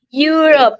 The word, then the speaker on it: Europe: European Country European Country Nah, that's depannya huruf Y. Depannya huruf Y bukan ir bukan ir.